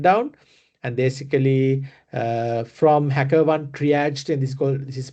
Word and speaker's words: triage: And basically from HackerOne triaged, and this is pronounced as triage.